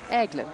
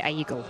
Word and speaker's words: Aigle: Aigle, just like an egg. Aigle. Yeah. There we go. I used to say Aigle, which I think was completely wrong.